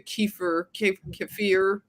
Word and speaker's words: kefir: If you want to say a kefir, I say kefir. Like Kiefer Sutherland.